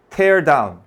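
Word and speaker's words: tear down: 테어다운 부수는 거지. 티어가 아니야. 태어지. 스펠링만 갖고 소리가 달라.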